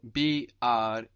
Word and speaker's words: brechen: To break is spelled B-R-E-C-H-E-N. So how would you pronounce that? Brechen. Brechen. So here we have an E before the CH. It's giving us a soft CH.